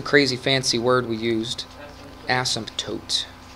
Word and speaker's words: asymptote: Asymptote. Okay, sounds weird to kind of put the P in there, but I guess that's how you say it.